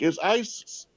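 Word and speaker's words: Ἰησοῦς: IESOUS, hard pronunciation in Greek is ISIS.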